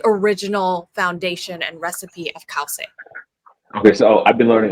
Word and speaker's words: Khow Suey: Oh, let me get a proper pronunciation. Took some notes down. Oh no, Khow Suey. Yeah, Khow Suey or Okay. Khow Suey.